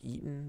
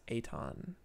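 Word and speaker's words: Eytan: or it's spelled e-y-t-a-n it looks like eaton but it's aton eton zana and thoughts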